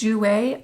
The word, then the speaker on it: Jouer: of their products today next up is jouer I think that's how you pronounce it j o u e r Jou have not tried this